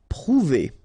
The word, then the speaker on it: prouver: Prouver, okay, O and U together, ou, prouver, prouver.